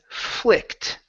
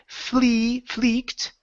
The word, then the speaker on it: flicked: Next one here is flicked. Right here, instead of fleeked, short I. Flicked.